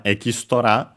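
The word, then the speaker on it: エキストラ: But yeah, the other one, Ekistora, is actually accented technically on the su. So different from English, be careful.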